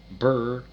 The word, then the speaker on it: Burroughs: 2 syllables, Burroughs.